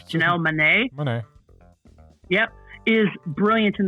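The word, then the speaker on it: Monáe: Our lead actress Janelle Adam, you know me in pronunciations, Janelle Manet.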